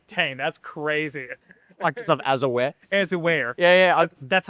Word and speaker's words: Azure: Microsoft Azure.